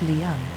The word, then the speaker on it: Leven: It is spelled Loch Lion in Timothy Pont's map of the area and is pronounced Leon.